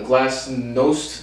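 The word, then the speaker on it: glasnost: soviet glassnest and perestroika glassnest is really it's the glass nost nice with the o in there that throws me off a little bit so i'm not exactly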